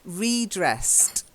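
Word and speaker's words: re-dressed: at the end so redressed redressed redressed yes that's it now don't confuse it with redress ok if you notice it's hyphenated there is a word redress slightly different stress so he redressed her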